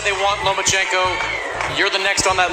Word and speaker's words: Lomachenko: I think you said his name wrong. It's Lomachenko because he doesn't want to fight me.